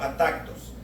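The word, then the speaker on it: ἄτακτος: desordenadamente viene del griego at tactos así como suena es a t a acento en la a k de kilo a tactos y quiere decir fíjese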